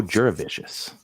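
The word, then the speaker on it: Jurevicius: He's so delicious, and it rhymes with that. Joe Juravicious.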